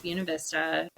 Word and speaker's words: Buena Vista: It is pronounced Buena Vista.